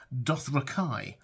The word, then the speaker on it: Dothraki: he sometimes says starness he doesn't even say Dothraki he says wait for it dothrakai so should we change